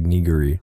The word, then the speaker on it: nigiri: It's not pronounced like that though. It's like Nigiri, so that's okay.